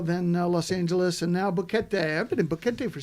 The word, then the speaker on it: Boquete: I mean, Boquete. Rhymes with you know. spaghetti. Spaghetti. Boquete.